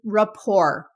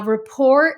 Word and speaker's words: rapport: Number 5 is rapport. Now, rapport is not pronounced how it looks when it's written, but it means to